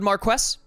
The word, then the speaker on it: Marquess: Duty my Lord Marquess I'd never say this word right I don't think you pronounce the S do you it's like Mark White now whatever I'm not